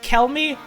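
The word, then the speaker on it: Chelmey: what do you mean how is it the thing I've been saying it is because that's how I've been saying it sometimes CH is K a person who could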